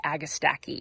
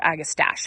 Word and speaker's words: Agastache: This is meant to be Royal Raspberry Agastache, or Agastache, however you want to pronounce it.